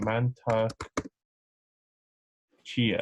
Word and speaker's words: Mantak Chia: Mantak Chia.